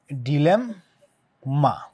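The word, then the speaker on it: dilemma: লিখেছে অডিয়েন্স এরপরে ডিলেমা আমরা জানি ডিলেমা কিভাবে লিখে ডিলেম মা উচ্চারণ করার সময় আমরা দুইটা ওয়ার্ড পাই মানে দুইটা লেটার পাই এম সেটা হচ্ছে কি ডিলেম মা ডিলেমা ডিলেমা ডিলেমা রাইট ডিলেম মা সো উচ্চারণ করার সময় আমরা দুইটা এম এখানে পাচ্ছি তাহলে এখানে এম আছে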